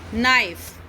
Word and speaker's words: knife: knife, we will speak knife. We will speak knife. So if K is followed by N at the beginning of a word, then K is not said, it is silent.